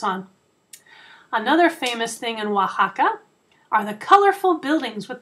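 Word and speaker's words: Oaxaca: another state in Mexico and its name is Waka kind of a tricky word to pronounce Waka Waka is at the bottom of the country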